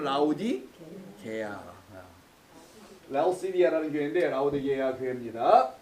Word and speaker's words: 라오디게아: 이게 발음이 좀 어려워. 어떤 분은 라오디아게, 라오디게아, 나게아오디 뭐 여러 가지로 발음하는데 정확하게는 라오디게아.